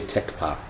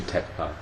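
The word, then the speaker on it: Thekpa: Tekpa is usually spelled T-H-E-K-P-A, but the H is silent. Sunden Dorji Tekpa.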